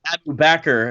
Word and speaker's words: Abu Bakr: Anyway, of course, Abu Bakr, if you pronounce it that right way, rhymes perfectly with cracker.